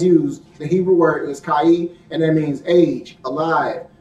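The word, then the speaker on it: chay: Kai, and it's spelled C-H-A-Y.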